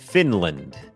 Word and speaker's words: Finland: ฝึก ออก เสียง ฟินแลนด์ อ่าน ว่า Finland Finland โอเค อัน นี้ บ่ง บอก ว่า อ่า จำ ได้ มย อัน นี้ ก็ เน้น พยางค์ ขึ้น สูง fin พยางค์ ไม่ เน้น land Finland Finland เหมือน กัน ครับ ชุม